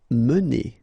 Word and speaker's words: mener: Mener. Okay, so remember when you get this E like that without any accent, so it should be pronounced E. Okay, so it goes like mener.